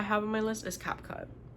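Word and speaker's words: CapCut: Um any the third app I have on my list is Cap Cut. Some people say Cape Cut. I say Cap Cut because that's how it's spelled.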